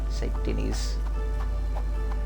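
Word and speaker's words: Saint Denis: Denise in Red Dead the proper way to say it not sand in say Denise Denise oh yeah now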